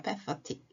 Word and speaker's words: pathetic: 네, 다시 단어 돌아가서 pathetic. 발음이 좀 어렵죠? path에 에틱이 붙었어요. pathetic.